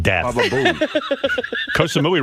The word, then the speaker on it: Koh Samui: Koh Samui sounds like death. Baba Booey. Koh Samui rhymes with Baba Booey.